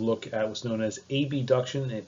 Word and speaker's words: abduction: at what's known as abduction and adduction. This is borrowed from Latin, where AB means away and AD means toward. So there's no confusion. I'll make sure that I pronounce them as abduction, adduction.